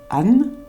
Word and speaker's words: An: et les déess donc ce signe il ne se prononce pas sauf si on veut indiquer étoile ou ciel oou là on va le prononcer Anne sinon pour les noms